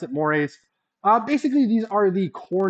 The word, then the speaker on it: mores: All right, mores, that's how you pronounce it, mores.